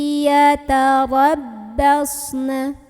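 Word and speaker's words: يتربصن: Ro-nya kita bunyikan secara tafkhim. Karena ro-nya ini berbaris dan barisnya di atas, maka ini otomatis bacanya tebal, pangkal lidah kita naikkan. Yatarabbas. Kemudian shadnya ini punya ciri khas sifat yang tidak memiliki lawan, sama seperti huruf za yaitu sifat shafir. Artinya ada suara desisannya.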